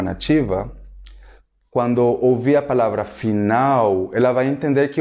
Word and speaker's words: final: Só que a pronúncia no espanhol é final, correto? Final. Em português parece que o L do final se torna um U.